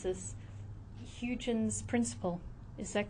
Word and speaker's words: Huygens: Then the last point we have down there is, and I'm going to try my best to pronounce this, Huygens principle.